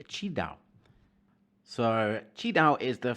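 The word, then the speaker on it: QiDao: to look them up that is spelt q-i-d-a-o but you say chi dao so chi dao is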